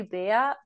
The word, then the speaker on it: Bea: than I am yeah my my mom calls me when I've done something really really bad um German call me be but actually I prefer be because you it's shorter